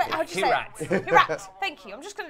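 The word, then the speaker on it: Kyrat: Kirat. Thank you. I'm just going to ask you to just pronounce everything today.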